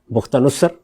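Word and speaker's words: بخت نصر: بختہ نصر، اس نے حملہ کیا، کسی اور دین کے ماننے والے، جس کو نبو خد نصر بھی کہتے ہیں. تو دونوں تلفظ اس کے ٹھیک ہیں.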